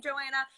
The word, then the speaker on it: Johanna: each make a difference i see johanna or joanna we pronounce her name joanna she has beehives she's